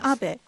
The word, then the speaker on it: Abe: My name is Abe, but in the United States, some people mistakenly pronounce my name as Abe.